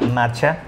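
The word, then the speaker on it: matcha: están familiarizadas con esto se escribe m a tch a marcha no es marcha como a veces piensan que que lo decimos Así que lo vamos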